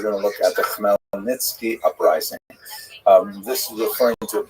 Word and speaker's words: Khmelnytsky: And it's sometimes spelled in Roman characters with the Polish spelling, making it look something like Khmelnytsky. It's actually pronounced Khmelnytsky with a guttural at the beginning.